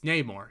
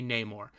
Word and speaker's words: Namor: the word instead of how it is traditionally pronounced as Neymar it's Namor he is Namor but he well no he's